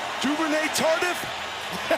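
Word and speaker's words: Duvernay-Tardif: the penalty on there, Duvernay Tardif, he's late to get to that one. I'm a rookie, guys. That was a pretty good call by me, Joe. That's excellent pronunciation exactly. of the Quebecois native.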